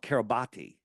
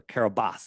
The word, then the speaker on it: Kiribati: sandbar in the middle of the ocean called Kiribati, or Kiribati, it's pronounced, right?